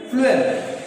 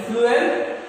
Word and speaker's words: phloem: होता है, food and फ्लूएम में भी also food. Pronunciation look at the pronunciation, food यानी कि फ्लूएम, फूड, फ्लूएम फूड, यानी